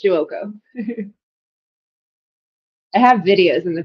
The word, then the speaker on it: Giuoco: Giuoco. That's how you pronounce it, Giuoco.